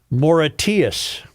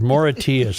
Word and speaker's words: Mauritius: A new location, Port of Call in Port Louis, Mauritius. Is that how you say it? Yes. Look that up, Reavers. Mauritius.